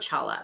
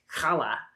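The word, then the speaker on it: challah: It's not chala. It's kala.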